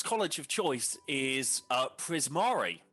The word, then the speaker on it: Prismari: Uh Glump's college of choice is uh Prisari. Is that how you pronounce? That's how you pronounce it, right? Prismari. Yes.